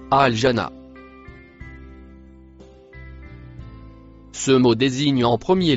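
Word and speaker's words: الجنة: Le mot en vert, se prononce, al-jana.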